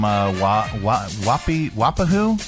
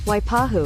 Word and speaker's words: Waipahu: That's Leah from Wapahu? Wapaha? How do you pronounce that? Waiapu? It's in Hawaii. And here, let's get a pronunciation key. How to pronounce... Oh, it's her. It's our Pronounceify lady. Waipahu.